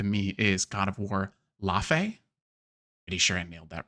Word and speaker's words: Lafe: It's a strange one because I saw IGN was saying it's not Leve. No, so Leve is an artist. Leve, the artist. Yes. Yeah. Yes. So, but yeah, the Norse pronunciation I think would be Lafe, which makes more sense because it's Fae, right?